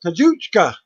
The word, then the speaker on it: Kazuchika: Kazuchika has an I and silent, as it's spelled Kazuchika. Okada. So it's Kazuchika.